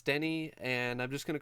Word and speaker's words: Denis Villeneuve: I kept calling him Denis or Denis, but apparently it's Denny. It's Denny. It's Denny, and I'm just gonna